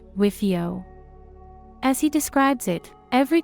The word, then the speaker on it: WFIO: "We're fucked, it's over, it's pronounced WIFIO."